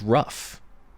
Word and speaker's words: rough: examples are very common like the word rough which you know is an r u f sound even though it is spelled nothing like that well i mean the